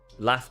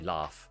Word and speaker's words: laugh: Laugh being one of those words ironically because most sort of received pronunciation southern speakers would say laugh. Yes, I laughed at that joke. I say laugh which is like a northern a but it's only for